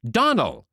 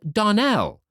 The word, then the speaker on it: Donnell: Clarice Elmyra told me that you pronounced our name Donald. Now, Miss Shirley, the correct pronunciation of our name is Donell, accent on the last syllable.